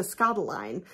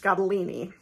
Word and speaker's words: Scottoline: known about her books I've called her Lisa scotaline so nice for me to at least know that her name is pronounced scadolini So Lisa scotolini number one